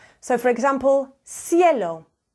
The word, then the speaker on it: cielo: And then before an I and an E, it's a softer C, like a S. So, for example, cielo, cielo.